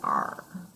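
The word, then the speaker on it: 二: e like in easy number two sounds like the pirate r oh this is r and number two and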